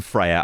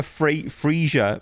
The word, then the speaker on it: Freja: Um, but they were calling her Friezia. Friezia. I'm like, what? Friezia. Anyway, it's Freya.